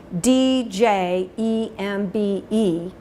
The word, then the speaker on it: djembe: the word it's spelled DJ embe and you would pronounce djembe as if it started with a letter J so that's what this